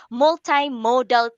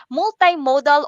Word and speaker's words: multimodal: are all examples of multi-modal texts okay multi-modal or multi-modal are too acceptable pronunciation of this word okay truth is multi-modal or multi-modal are acceptable pronunciations of this word okay so chutis these